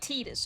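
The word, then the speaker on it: Tidus: Okay, just pronounce it like Titus.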